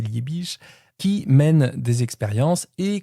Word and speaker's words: Liebig: Liebig, prononcé Liich qui mène des expériences